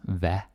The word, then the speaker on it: hvad: So, hvad, a lot of the time, hvad is pronounced as hvad.